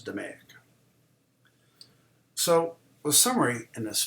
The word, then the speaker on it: DMAIC: DMAIC, which they pronounce DMAIC.